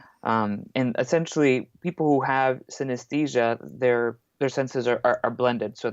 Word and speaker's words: synesthesia: there's actually an A in the middle of the word, so you mispronounce it like Yeah, synesthesia. But it's synesthesia, like anesthesia, but uh-huh.